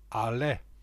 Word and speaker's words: Allais: century after fucose invention he was a Frenchman hence the pronunciation arla mr.